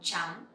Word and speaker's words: trắng: Next one is white, màu trắng, màu trắng. Or you can say trắng, trắng. So when you pronounce TR sound, it sounds similar with TR in English, like train or trees.